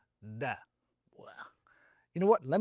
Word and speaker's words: د: In fact, it's closer to the D in Spanish.